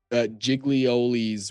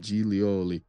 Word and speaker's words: Giglioli: There's also Giglioli's whale. Giglioli's whale. That's a crazy name. It's not pronounced that way. It's like an Italian name, Giglioli. Yeah, it's not. Okay. It is pronounced more Italian.